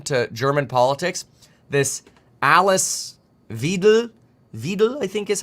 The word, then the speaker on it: Weidel: Like, if you're paying at all attention to German politics, this Alice Weidel, I think is how it's said. Alice Weidel. Wait, Weidel. E and I makes I. Weidel. So it'd be Weidel.